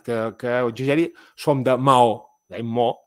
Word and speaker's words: Mahó: Mahó són dues vocals, però són dos cops de veu.